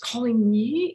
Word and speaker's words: Coligny: It's pronounced Coligny in France because you don't pronounce the G.